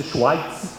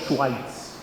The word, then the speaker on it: Schweitzer: Alguém pronuncia Schweitzer, mas ele é alemão, ele nasceu na Alemanha. Albert Schweitzer.